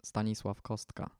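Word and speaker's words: Stanisław Kostka: vocation is stanislauska or as we pronounce it in Poland stanislav kostka so he was very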